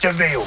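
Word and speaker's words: De Vil: He's spelled devil, but it's pronounced Deville.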